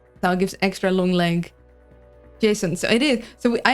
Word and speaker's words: JSON: Jason.